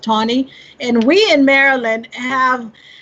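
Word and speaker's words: Taney: tawny it's spelled ta n ey but it's pronounced Tony and we in Maryland have the distinction of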